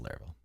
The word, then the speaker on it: Laravel: doesn't really care but he says it is pronounced larl but we won't fault him on that as